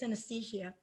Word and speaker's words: synesthesia: it's synesthesia did i say it right yes synesthesia how did you discover that you had that